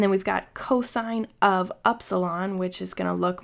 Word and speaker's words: upsilon: Some people pronounce it upsilon, but I hear it most often as upsilon.